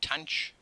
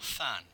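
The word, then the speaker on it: tanh: So tanch is one way of doing it, or than, tanch x, or than x, or tan h, hyperbolic tangent.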